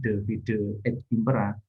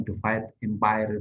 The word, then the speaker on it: Divide et Impera: Kayak seperti Divide et Impera itu yang bacanya Divide et Impera, bukan Divide Empire, bukan. Itu bukan bahasa Inggris.